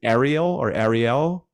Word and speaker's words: Ariel: I see that you have either you've done some rebuilding of, and is it Ariel? Is that how you pronounce that? Aerial motorcycles, yes.